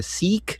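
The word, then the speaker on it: Sikh: But this guy is giving an exception to the seek, I think it's pronounced, to carry swords.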